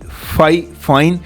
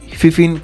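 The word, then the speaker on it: Fifine: fine I mean like this is actually F fine but I call it mostly fifin CU it's easy to pronounce so this is fifin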